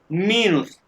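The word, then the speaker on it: minus: माइनस को English में माइनस कहते हैं, जर्मन में माइनस कहते हैं, लेकिन स्पेलिंग अकॉर्डिंग जर्मन स्पेलिंग मीनस, मीनस मियोन मीनस।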